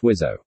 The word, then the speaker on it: WSO: the cockpit for a weapons systems officer or pronounced wizzo in the strike eagle the wso is in